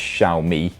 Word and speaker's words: Xiaomi: X or shamwa well I've been explicitly told by xiaomi Executives that is pronounced xiaomi but you know much